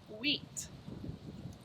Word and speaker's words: wheat: is called wonderful wheat that w h makes that sound wheat what does wheat rhyme with well if i'm hungry i might want to eat wheat and eat that's right so today we're talking